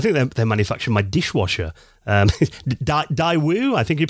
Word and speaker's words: Daewoo: That's it, Daewoo.